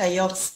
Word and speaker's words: Yoks: i i know they they call you dr jokes am i right yes they call me dr yocks my name is